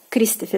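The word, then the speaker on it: Кристофер: be sounding as Christopher in Russian Christopher Christopher Christopher again the um are at the end has to be pronounced as full in the end in Russian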